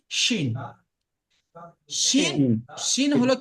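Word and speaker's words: ش: কি মানে বাতাস বাতাসটা বার হয় বাতাসটা তবে উচ্চারণটা হয় কি শিন শিন শিন হলো কি শিন এমন একটা শব্দ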